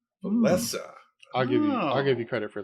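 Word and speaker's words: Wałęsa: I think his first name is pronounced Lech, but I thought it was Walesa. The correct answer is Lech Walesa. Walesa.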